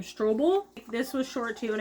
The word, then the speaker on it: Strobel: Strobel.